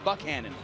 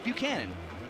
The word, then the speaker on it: Buchanan: town, because he said, Tim Buchanan said, you pronounce it Buchanan. And then even some of the assistant coaches from Aledo told me that night 2 years ago, yeah, no, it's Buchanan.